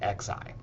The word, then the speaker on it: xi: So that is the Greek letter uh and it's pronounced z xi.